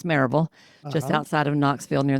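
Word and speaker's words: Maryville: I I ran I started grew and ran a group practice in Mville, Tennessee, which we pronounce Maraveville, just outside of Knoxville near the Smokies and ran that practice for 25 or so years.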